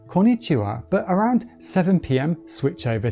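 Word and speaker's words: こんにちは: Well if it's before 10am it's OHAYO GOZAIMASU and anytime afterwards it's KON NI CHI WA, but around 7pm switch over to KONBANWA and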